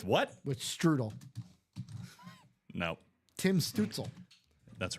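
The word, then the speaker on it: Stützle: His last name kind of rhymes with Strudel. With what? With Strudel. No, Tim Stutzel.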